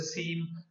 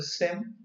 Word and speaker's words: SIEM: you are pronouncing so the pronouncing varies some call as a seam someone call as a Sim but yeah I'm calling it as a Sim so so if it's